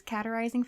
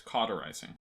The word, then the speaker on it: cauterizing: for it cauterizing claims categorizing you're so close it's cauterizing thank you cauterizing flames